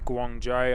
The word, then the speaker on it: Guangzhou: The design symbolizes the airline's roots and connections to southern China, particularly Guangzhou, I believe that's how you say it, where the kapok flower is the city flower.